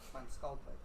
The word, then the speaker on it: Van Skalkwijk: How do you say it? Kevin's last name? Kevin Van Skalkwijk. Skalkwake, sorry, I knew I was saying it wrong.